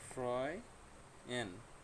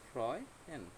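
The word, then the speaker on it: freuen: ওকে, তারপর ফ্রয়েন, ফ্রয়েন অর্থ হচ্ছে খুশি হওয়া। এখানে আরেকটা রুল দেখাইয়া দিই, সেটা হচ্ছে এ উ যদি একসাথে বসে, এটার উচ্চারণ হয় অ এর মতো।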